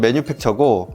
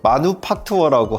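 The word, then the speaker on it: Manufaktur: 그래서 뭐 영어 발음은 매뉴팩처고 그리고 뭐 독일어는 마누팍투어라고 하거든요.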